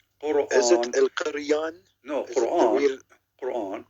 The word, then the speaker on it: Quran: No, Quran. Quran. Yeah, but the way you pronounce it in Aramaic.